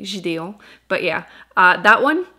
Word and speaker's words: Gideon: gideon tonight which see i finally learned how to pronounce it in english i kept saying it in french to be fair it sounds very fancy in french by saying gideon but yeah uh that